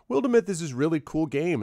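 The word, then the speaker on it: Wildermyth: wildemyth and i'm like what is wildemoth and he's like wildemyth this is really cool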